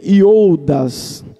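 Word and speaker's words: Ἰούδας: Em hebraico, ou na verdade no grego, Judas no grego, se lê Iodas. Essa seria a pronúncia correta do nome Judas, Iodas.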